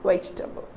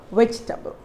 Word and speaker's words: vegetable: the third one so we are not here pronouncing the letter e so how do you